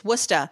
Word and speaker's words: Worcester: how to communicate and we were living in Worcester Massachusetts wora which back in the 80s was pretty rough